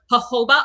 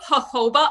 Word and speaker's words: jojoba: with a little bit of distilled water vinegar jojoba oil and if you want you can add